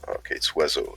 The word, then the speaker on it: oiseau: It's oiseau. It's O-I-S-E-A-U, and none of those letters pronounces the way it should.